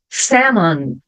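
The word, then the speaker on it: salmon: aqui é muda listen Samon Samon eu não pronunciei a letter L Ok então vai ficar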